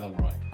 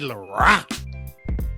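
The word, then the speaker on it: Laroi: It's not Lo. Lar. Kid Laor.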